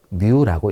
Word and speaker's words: μ: 정규 분포의 종 모양의 한가운데 지점을 정규 분포의 평균이 되는데 정규 분포의 평균을 그리스 문자로 뮤라고 읽습니다.